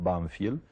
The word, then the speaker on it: Banfield: el pueblo se llamaba nosotros lo pronunciamos banfiel y y es un